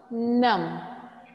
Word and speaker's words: numb: The last sound, B, when we are pronouncing is with any other sound, NB, MB, etc., we make it silent.